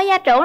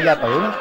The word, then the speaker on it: gia trưởng: Bạn ơi, bạn có gia trưởng lắm không? Mình không gia trưởng không? Gia trưởng chứ không phải gia tưởng.